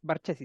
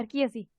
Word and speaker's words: Barchesi: Diputada Barchesi, ¿cierto? Sí. ¿Está bien pronunciado? Barquiesi.